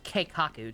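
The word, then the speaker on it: 計画: It's pronounced Keikaku, Jeppy.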